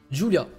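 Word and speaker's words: Giulia: Julia, ça s'écrit comme ça en fait. G-I-U-L-I-A.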